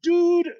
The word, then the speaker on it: Dood: And dude is pronounced dude, and it's spelled out DOOD in the game, I believe.